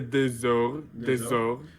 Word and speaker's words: des heures: J'ai passé des heures. So we don't pronounce often this S, but because we don't